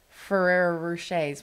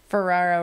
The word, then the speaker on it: Ferrero Rocher: a whole box of Ferrero rochers which I can't really say that name did I say that right Ferraro no we always say it wrong we say like Ferraris but anyway um